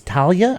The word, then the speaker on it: Thalia: I know it's Talia. I always Thalia. Wait a minute. You don't even know your Talia. name. You've been pronouncing the wrong name. Well, Talia is spelled TH.